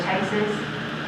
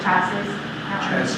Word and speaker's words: chassis: me if I'm wrong, the chases or the chassis chassis. Okay. Um it's spelled differently than it's pronounced.